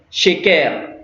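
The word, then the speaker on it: şeker: Vous voyez cette lettre-là, c'est le S, c'est dit, on la prononce Chapka, Chiche, Sheker.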